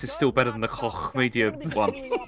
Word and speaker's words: Koch: I mean, although honestly, I mean, SummerSloth, even with this esports section, this is still better than the Koch Media one. It's pronounced Coke.